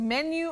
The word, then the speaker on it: menu: menu MH menu okay the U at the end takes that Glide you new men menu not menu menu menu right menu okay not menu and Betty we